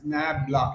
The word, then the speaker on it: nabla: via a vector operator called nabla this is pronounced as nabla it's the inverse of delta in inverted delta